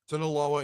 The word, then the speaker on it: Sinaloa: One of them, the Sinaloa, how do you pronounce it, J-Dog? Sinaloa and Yellowstone.